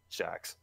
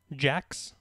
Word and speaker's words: Shax: Shax. Jax? Shax. One moment. Let me look up. Max? Shax. Shax? Shaq? Sax.